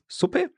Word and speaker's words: Suppe: Right, Very similar, but longer. Super. Suppe and super. Right, so again, for that one, I don't see much difference in super and super. It's just a super, a length thing.